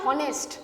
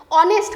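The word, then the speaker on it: honest: same অনেস্ট এর ক্ষেত্রেও কিন্তু কখনো আমরা এটা বলি না হনেস্ট বলি নাকি হনেস্ট বলি না অনেস্ট কথাটা হনেস্ট নয় এইচ টা সাইলেন্ট মোডে থাকে কিরকম মোডে থাকে এটা silent mode H silent H silent M এল এম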